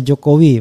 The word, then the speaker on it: Jokowi: Jadi kita akan menampilkan dan JKW dong, Jokowi. Oke, Jokowi. Walaupun nulisnya JKW tapi bacanya tetap Jokowi.